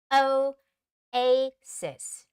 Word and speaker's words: oasis: we say it but in English it's Asis o Asis okay so o and then a a and then sis Oasis and the stress comes on the Val syllable a okay all right so